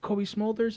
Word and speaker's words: Cobie Smulders: So one of my favorite stories you told me is Cobie Smulders. Is that how you pronounce her name?